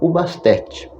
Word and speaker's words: Bastet: As reconstruções coptas, por sua vez, mostram no primeiro milênio antes da Era Comum, seu nome poderia ter sido pronunciado como Ubast ou Ubastet.